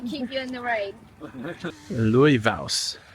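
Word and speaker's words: Laufás: you in the rain Louis V is how it's pronounced and it Loosely translate Leaf Hill Louis V I'm still not sure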